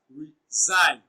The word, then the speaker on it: resign: Resign is pronounced as resign. Sign is pronounced louder and longer.